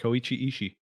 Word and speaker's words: Koichi Ishii: watch them and i'm sorry sir if i butchered your name but i went to an australian public school that was correct koichi ishii oh yeah i'm the best uh wanted to